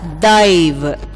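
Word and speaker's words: दैव: You should spell this word as dai va. But you should pronounce this as dive.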